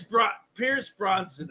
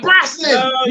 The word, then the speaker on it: Brosnan: Pierce Bronson, I think his name is. Pierce Bronson. Thank you. I said Brosnan. No. The Brosnan, not Bronson.